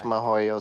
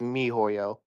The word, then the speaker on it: miHoYo: I mispronounced it. It's mi hoyo. Mihoyo. The mi is short for mid.